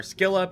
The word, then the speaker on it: Scylla: And yes, Scylla, I've heard it pronounced both ways. I prefer Skila because Scylla sounds too much like Zilla.